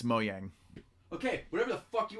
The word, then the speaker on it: Mojang: By the way, it's not even called Mahjong. It's Mojang.